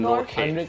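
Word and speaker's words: Nortje: next one Anrich Anrich নর্থ নর্থ তারপর কি আচ্ছা উচ্চারণটা এরকম আসে নর্খে এরকম আসে নর্খে নর্খে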